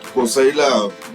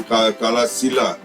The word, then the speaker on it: Kosaila: Okay, now folks, this is what you call it, Kosaila, mispronounced by Buddhists as Kalasila, where Mahamauliana was murdered.